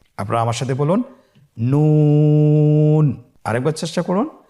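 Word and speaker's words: ن: নুন হরফটি উচ্চারণের ক্ষেত্রে অবশ্যই পাতলা করে উচ্চারণ করতে হবে এবং 3 আলিফ টেনে পড়তে হবে। আপনারা আমার সাথে বলুন নুন। আরেকবার চেষ্টা করুন নুন।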